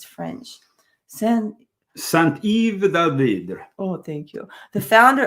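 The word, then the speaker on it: Saint-Yves d'Alveydre: Saint-Yves d'Alvidre.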